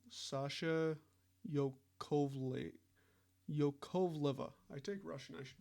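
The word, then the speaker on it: Yakovleva: Sasha Yakovla?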